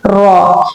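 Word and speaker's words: ر: How you are going to pronounce raw? And what is sound of the raw? Raw has r like sound.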